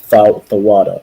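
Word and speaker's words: תודה: It begins with Tha. Tha, then a Wa. Thawada or Thawada.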